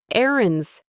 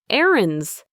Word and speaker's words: errands: Notice that I don't pronounce the D in errands very strongly. It's almost silent. Erands. Erands.